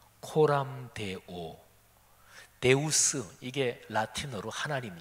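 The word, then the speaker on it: Coram Deo: 이런게 있어요 제가 라틴어 발음해 보겠습니다 많이 들으신 발음이에요 코람데오 데우스 이게 라틴어 하나님 신 이런 뜻이에요 코람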